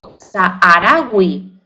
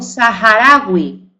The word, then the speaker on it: saharaui: Hay algunas excepciones como saharaui, se la he aspirado porque viene del y entonces no digo saharaui, sino que digo saharaui, porque es un vocablo árabe.